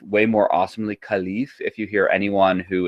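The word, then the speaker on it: caliph: uh England or America so khif is the best way to probably say it but caleff is how boring people like me learned how to say it um now the first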